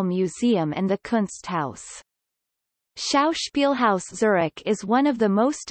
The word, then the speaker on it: Züri: In Zürich German, the local dialect of Swiss German, the name is pronounced without the final consonant, as Zuri T-S-Y-R-I, although the adjective remains Zürcher in Zürcher N.